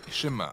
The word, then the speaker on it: Shema: est écouté ou entendre prononcez schéma en hébreu et c'est ce mot